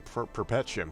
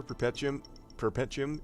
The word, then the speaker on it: Perpetuum: I've been saying Perpetuum because perpetual. Yes, maybe, I'm not sure. But Like, I literally don't know. Here's the thing. I'm pretty sure Perpetuum is also a French word.